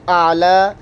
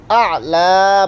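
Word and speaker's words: أعلى: সিজদার তাসবিহ সুবহানা রব্বিয়াল আ'লা, আ'লা মানে কোন কোন জায়গার মধ্যে সমস্যা করেন আবারও দেখাচ্ছি আর কি। সুবহানা রব্বিয়াল আ'লা পড়বেন, আলা পড়লে হবে না।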